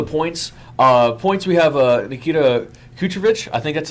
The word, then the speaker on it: Kucherov: Points we have Nikita Kucherov. I think that's how I said it right. Yes, sir. Kucherov, yeah.